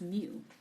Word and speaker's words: mu: the probabilities and we can denote this by mu or by the capital e a parenthesis expresses so here for this uh greek letter the the name of this one is pronouncing as mu okay so this is what's the meaning for